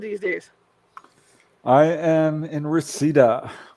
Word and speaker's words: Reseda: I am in Reseda. We also pronounce it residue, actually.